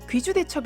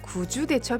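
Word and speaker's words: 구주대첩: 용어가 좀 낯설 다구요 이 1차는 귀와 구로 발음 되는데 지명을 나타날 때는 9 로 발음하는 것이 원칙입니다 경상북도 구미 를 귀 미로 발음하지 않는 것도 갇힌 이유입니다 그런데 이상하게도 잘못된 발음인 귀주대첩 이란 용어가 널리 알려져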